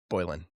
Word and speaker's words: Boylan: Remind me how to pronounce your last name. Is it Bolan? Yes. Bolan.